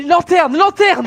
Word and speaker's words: lanterne: Putain, les lanternes!